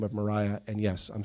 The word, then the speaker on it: Maria: on the guitar called They Call the Wind Mariah, and I thought it was just a name for the wind. It was quite a shock for me when I found later it's spelt Maria.